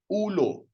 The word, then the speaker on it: ulo: Okay, which is, okay, so the way you read this is ulo. Ulo.